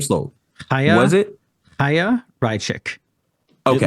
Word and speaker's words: Chaya: slow ha was it haa raichik okay it looks like CH it's spelled c h a y it's the silence icking